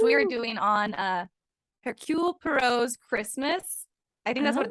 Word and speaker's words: Poirot: Because I know how I pronounce it in my head, but Okay, I think it's Poirot. Poirot. Poirot, Yeah, Poirot, but I always say Poirot, Poirot.